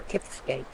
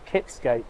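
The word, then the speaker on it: Kiftsgate: Is it Kifsgate or Kipsgate? Kif, F, I think, Kifsgate, yeah.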